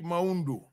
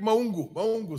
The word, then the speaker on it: Maungu: The Honorable Maundu. Honorable Maungu, sorry. That is a correct pronunciation. Yeah, Maungu.